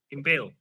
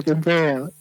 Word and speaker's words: Impil: Bacanya Impil apa Impalo, Mas? Impil. Oh, Impil. Nah, gimana game Impel?